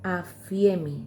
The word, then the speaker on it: aphiemi: Fíjense que en el original griego la palabra perdón es aphiemi, se escribe A-P-H-I-E-M-I, que significa soltar, dejar ir, enviar lejos.